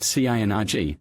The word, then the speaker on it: CNRG: CNRG is pronounced CINRG and is an abbreviation of the word synergy.